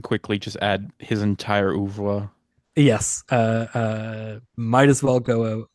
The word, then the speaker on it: oeuvre: says that the R is pronounced, so I'm gonna trust it. Oeuvre Okay.